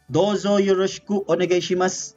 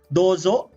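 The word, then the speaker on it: どうぞ: but in this example dozo is uh written like this but in pronunciation but in pronunciation it's double o so it's some sort of prolonged o or uh long vowel o okay so english at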